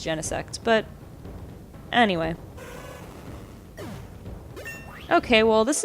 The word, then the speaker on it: Genesect: Apparently the proper pronunciation is Genesect, but anyway.